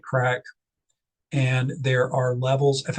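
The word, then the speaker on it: craic: Uh it's pronounced like crack.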